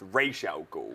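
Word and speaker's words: Ra's al Ghul: and it is pronounced racial ghoul kind of like a r-a-y-s-h that's the greatest because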